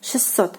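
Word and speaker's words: шестьсот: And it is pronounced, listen carefully, it is pronounced like 600, 600. So basically the t sound is like omitted here, and you like pronounce it like with two s.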